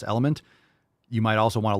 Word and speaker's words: LMNT: would check out relight or lmnt pronounce element you might also want